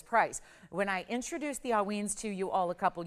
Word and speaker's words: Haüyne: It is pronounced haüyne. Think of it A-H-W-E-E-N. So haüyne.